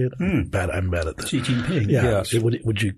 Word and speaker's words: Xi Jinping: had other dictators throughout, and we have it's Xi Jinping, is that how you say it? I'm bad at this. Xi Jinping, yeah.